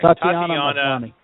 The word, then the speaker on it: Tatiana Maslany: The two top actresses for the female lead is Rooney Mara and I always mispronounce her name, and I apologize for this. Was it Tasna? I'm sorry. Tatiana Maslany.